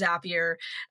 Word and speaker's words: Zapier: it right it is zapier for anyone listening zapier does make you happier that's the way to remember how to pronounce it um and I came